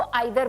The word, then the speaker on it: either: इसको बहुत सारे लोग ईदर भी बोलते हैं. ईदर भी इट्स an American English, British English में इसको आइदर बोला जाता है. तो दोनों प्रोनाउंसिएशंस करेक्ट हैं, चाहे आप आइदर कहें या ईदर कहें, बोथ आर करेक्ट.